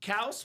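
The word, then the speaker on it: Kelce: Yep, Kelsey's pronounced Kels.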